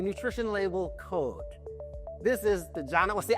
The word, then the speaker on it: Diana: This is Diana. Well, see, I call her Diana, but she said it's Diana. It's Diana. With a J. With a J. With a silent J.